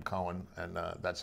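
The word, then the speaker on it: Coen: make fun of them they pronounce the name cohen and uh that's how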